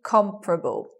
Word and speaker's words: comparable: becomes you anticipate comparable you anticipate four syllables but you get three comparable with the stress on the first so the stress being